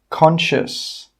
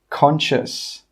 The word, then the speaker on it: conscious: Number 10, conscious, conscious. Okay, you can see now that the letters in red are silent letters.